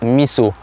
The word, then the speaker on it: miso: Une petite chose, ça s'écrit miso, mais ça se prononce miso.